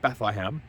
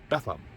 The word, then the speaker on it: Bethlehem: Bethlehem, right? Not Bethlehem. Bethlehem. You know, the locals say Bethlehem.